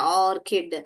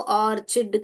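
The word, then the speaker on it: orchid: तो ऐसे अंडरलाइन करके आप लिखिए कि इधर ऑर्क इड किड ऐसे पढ़ने का ऑर्किड आप ऐसे नहीं लिखोगे कि आपको ऑर्चिड करके ओके तो और ऐसे हम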